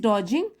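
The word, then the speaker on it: dodging: डोजिंग pedestrian ठीक है तो यह डी साइलेंट है यहां पर शी इज डोजिंग तो वह क्या कर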